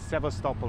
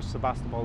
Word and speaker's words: Sevastopol: So I went out to Crimea, and I went out in Sevastopol, or Sebastopol as we probably pronounce it in English, which is on the shores of the Black Sea.